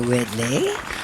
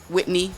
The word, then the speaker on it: Whitney: Whitney, Whitney. Not Whitley, like in different different strokes.